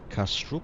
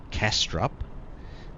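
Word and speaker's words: Kastrup: Copenhagen I think is castr castrop if I got that pronunciation correct again in Australia we'd probably pronounce it castrop but I believe it's castr and uh yeah so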